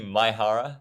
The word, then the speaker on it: Maehara: It's actually Maehara, but look, I don't expect anyone to get it correct.